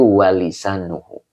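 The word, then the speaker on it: ولسانه: Ya, sepertinya salah baca ya. Jadi dibacanya itu walisanuhu.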